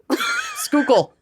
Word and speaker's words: Schuylkill: Schuylkill. Okay. I mean, it's probably, Schuylkill.